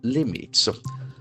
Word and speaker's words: limit: accent force of the first syllable, limit.